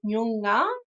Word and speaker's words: Noongar: So with Nyunga, it's Nyunga, and with Borlu, it's Borlu. So really emphasize the R in those things.